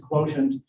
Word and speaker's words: QTNT: And I'm going to be introducing the quotient, that's spelled QTNT, but I pronounce it quotient, personal value calculation system.